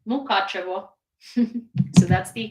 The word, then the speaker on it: Mukachevo: Mukachevo. So it's mu, like moo, ka, like K-A-H, ka, che, like Che Guevara, vo, like Mukachevo.